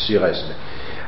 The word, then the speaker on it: Suresnes: En 1974, el Partido Socialista hace en Francia, en una ciudad que se llama, o sea, se escribe Suresnes, Sigaesne, hace un congreso, y entonces en ese congreso cambia la ejecutiva nacional.